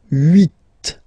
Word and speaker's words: huit: Then here, final T is pronounced, so huit, huit. Remember in French this H letter here, okay, doesn't exist phonetically, so we don't really pronounce it, okay? So if you listen carefully, you will only listen or hear these vowels at the beginning of the word.